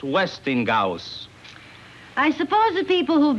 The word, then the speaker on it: Westinghouse: get this westinghouse catalogue westinghouse it's not westing gout it's westinghouse house no they are westinghouse